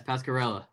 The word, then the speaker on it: Pasquarella: i'm honored to have the man himself randy pascarella that i pronounce that correctly by the way yes pascarella okay fantastic he's in uh well you've been